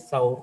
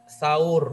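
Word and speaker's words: Thawr: yang dikenal dengan bukit sahur di bukit tawur bukan Surya Hai bacanya Bukit tawur bahasa Arabnya Hai saatnya difathah tawur bye kayak gitu lho rusyamsi saur bukan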